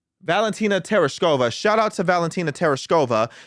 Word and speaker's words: Tereshkova: Tereshkova? Valentina Tereshkova.